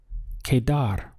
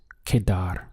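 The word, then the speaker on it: quedar: how to use it the verb to remain in Spanish is Kadar it's very simple just two syllables Kadar now if to that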